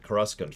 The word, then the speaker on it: Coruscant: fact i remember because the first time i ever heard the word coruscant that is to say the pronunciation of coruscant was in uh star wars rebellion specifically me and my friends called it kruskan for years ever since they first mentioned it in uh the thrawn trilogy what's funny is